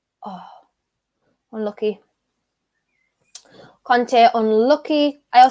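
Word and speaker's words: Kanté: a conte because that's the french pronunciation but then you just get mixed up with antonio conte and i just get confused so it's kante in my accent tonight guys right um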